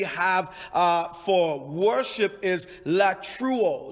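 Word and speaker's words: latreuo: word that we have uh for worship is la true oh la true i'll spell it for you l a t r e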